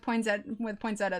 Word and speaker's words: poinsettia: Okay, I can feel much more comfortable with poinsettia then. I always feel like, why is the I there if you're not even going to pronounce it?